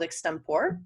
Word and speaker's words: Extempore: relatively new tool called extempore their ex sorry ex tempore that's how they presently like to pronounce ex tempore and it one of